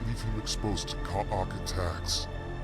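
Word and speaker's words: Kha'ak: leave him exposed to Kaok attacks. Kaak. So he pronounces it differently than her. talk. He used two syllables.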